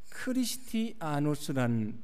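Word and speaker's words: Χριστιανός: 그리스도인이라고 불려졌다고 말씀을 합니다 여기 그리스도인의 그 시라버 발음이 어떻게 되냐면 크리스티아노스란 발음입니다 크리스티아누스라고 하는 말인데 이거는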